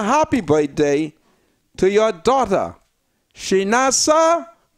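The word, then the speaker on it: Chinasa: Well, Miss Cartwright, I want to extend a happy birthday to your daughter, Shinasa. These children got strange name, but it's spelled capital C-H-I-N-A-S-A, Oten.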